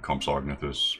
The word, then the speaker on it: Compsognathus: doesn't really matter um you can pronounce the g and compsognathus but strictly you shouldn't um anyway i got